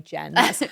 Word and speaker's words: Jean: it as Jen if she had a French pronunciation. Yeah. Yes. And then she said, don't worry, just say Jen.